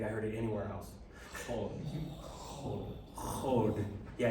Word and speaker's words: HoD: Duj, dev, chod. I heard a good H over here. I don't think I heard it anywhere else. Chod. Yeah, it comes from the back of the throat.